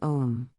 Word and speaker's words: Om: Some would say, you should give an equal importance to both O and M, sounding both parts at an equal length, sounding Om. Others would advise Om is in fact pronounced from the sounds AU, OM, that meaning, the first half is in fact longer than the second, advising to sound the vowel O longer than the closing M, becoming O-om.